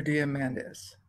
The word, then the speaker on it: Diamandis: diamond do you how do you say that diamond niece peter diamandis there we go i knew there was a